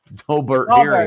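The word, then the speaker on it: Daubert: GNA have this doar dobert it's pronounced Dober I'm trying to educate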